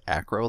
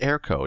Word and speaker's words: Airco: trusty dh2 erco dh2 i think i've been pronouncing that wrong the whole time i think he said acro last time i'm pretty sure it's air co now that i actually